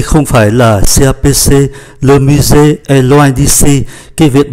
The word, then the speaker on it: musée: C'est le musée, S phát âm là Z.